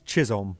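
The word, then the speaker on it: Chisholm: Am I pronouncing those names correct? Uh, he might have wrote Chris, but it's Jazz Chisum.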